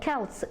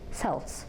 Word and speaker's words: Celts: By the way, слово Celts читается вот именно так и пишется именно так против всех правил. Ведь по правилам, да, по произнесению «с» это должны бы быть Celts. Но тем не менее, постарайтесь запомнить, начинается с Celts.